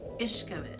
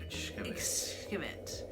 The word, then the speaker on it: Xcaret: The park is spelled like Xcaret. But it is pronounced Xcaret. Xcaret. There's a lot of X's in the Mayan language.